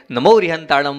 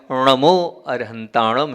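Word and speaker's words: णमो अरिहंताणं: आपने न बोला है, नमो रिहंताणम बोला है, नमो अरहंताणम है वो, न नहीं है, ण है।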